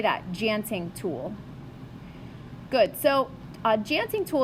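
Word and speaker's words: tjanting: DJ auntie ing so there's a silent T on the beginning of that word so it's actually pronounced a Genting tool so say that chanting tool good so dancing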